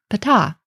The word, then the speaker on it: Ptah: name of the god Ptah now in this case you'll notice in English I actually don't even pronounce the H really at the end here because I'm treating it